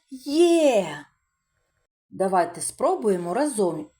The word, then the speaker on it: Є: Но в цій літері два звуки: й е. А, вимовляємо є.